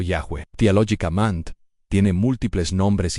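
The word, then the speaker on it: Yahweh: Técnicamente, el nombre personal revelado es IHWh, probablemente pronunciado Yahweeh Theologic Mand.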